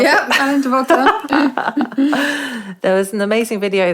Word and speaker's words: Alain de Botton: Is that how you pronounce it? Yeah, Alain de Botton.